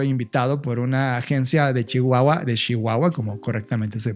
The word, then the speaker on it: Chihuahua: Ya habíamos platicado un poco de Rubén cuando justamente estaba yo invitado por una agencia de Chihuahua, como correctamente se pronuncia.